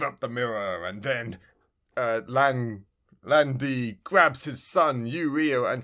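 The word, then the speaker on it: Lan Di: Yes, Landy.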